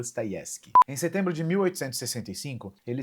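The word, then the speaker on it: Dostoevsky: Para todos os efeitos, eu vou falar Dostoyevski, mas que a minha professora de russo, Alina, não me escute, pois a pronúncia mais correta seria Dayevski.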